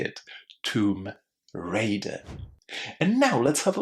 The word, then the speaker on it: Tomb Raider: Well, lots of students say rider, but it's not rider. These letters ai inside are pronounced as a because we're not talking about riding. We are talking about raiding, stealing from tombs. Tomb raider.